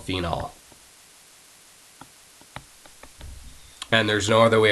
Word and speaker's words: phenol: It's just going to be phenol, Phenol. All right, so even when you're saying that name, really try to pronounce that OL so you don't get confused with phenol, Phenyl.